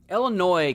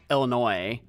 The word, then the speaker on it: Illinois: explorers called the place Illinois. And you know how the French are, they don't actually say half their letters. So that's that's why it's spelled that way.